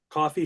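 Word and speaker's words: Ko-fi: be uh launching my how do you say it Kofi shop coffee shop coffee coffee so it's like buy me a coffee or whatever so I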